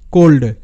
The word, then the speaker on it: cold: শব্দ একটা দেখো তাহলেই বুঝতে পারবে, যেমন COLD, এটার উচ্চারণটা কোল্ড, কোল্ড। তো এখানেও কিন্তু আমরা ও এর ওকারের মতো সাউন্ড পাচ্ছি, যদিও ও এর পর দুটো কনসোনেন্ট আছে। এখানে কিন্তু এটা VCC রুল।